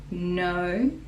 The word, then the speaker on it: know: We all know, K is silent, know, that Santa's, that, again